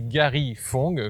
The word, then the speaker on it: Gary Fong: Alors, le nom, c'est Garifong, comme ça s'écrit.